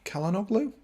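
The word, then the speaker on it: Çalhanoğlu: that 10 minutes that he's played so far kellen o'glow looks kalanoglu does how you pronounce his name yeah it is i i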